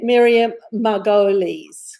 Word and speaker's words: Miriam Margolyes: Miriam Margolyes. Thank you, is how I've heard it pronounced.